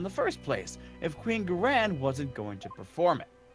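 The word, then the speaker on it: Ga'ran: of the murder was Her Eminence, Queen Sigtar Garain. Garan. Garan! But yes, all that. Yes. I said it with the pronunciation of the new.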